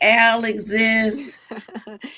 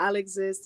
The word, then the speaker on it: Al'Exist: exist yeah well you know some people say al exists yeah but this isle exists you tell them what it's about there it's true i go by a lot of different nicknames but yeah i'll exist is that's how i pronounce it um and